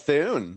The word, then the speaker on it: Thune: Oh, because it rhymes with Thune.